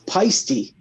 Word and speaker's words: Paiste: So I've been playing drums since I was 11, and technically I pronounce it wrong. It's Paisty.